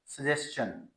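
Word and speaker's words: suggestion: ना तो यह सजेशन है ना सजेशन it pronounce S सजेन सजेन सजेन नॉट श सस प्रोना एस सजेन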